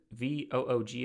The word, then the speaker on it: Voog: It's Anna Voog, V-O-O-G, I believe is how you pronounce her last name, is Voog.